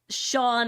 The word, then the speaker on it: Sean: s h a w n I will say Shan S A an is fairly common it is